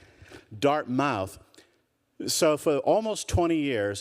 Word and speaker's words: Dartmouth: at some school that they still pronounce Dartmouth, all the years that I've been here, I could never get my family to say, you got the accent on the wrong, forget it. Dartmouth.